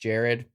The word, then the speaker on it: Jared: That was me learning from my mistakes, and I pronounced Jared correctly, even though it's spelled a little funky.